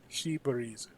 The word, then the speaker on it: Seabreeze: Yeah, him, Hagare, Shibreeze. I always mispronounce that, Seabreeze or even though Seabreeze? it's it's the Japanese pronunciation of Seabreeze. Mm. Shibreeze.